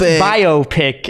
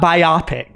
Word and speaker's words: biopic: Fun Fact, it's pronounced biopic, everybody, not biopic. Like BioWare, not BioWare.